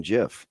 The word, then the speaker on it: GIF: It's graphics interchange format, but it's still graphics. The G is the hard G.